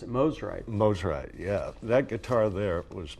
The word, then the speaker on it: Mosrite: Did I mispronounce it? Mosrite. Mosrite, yeah.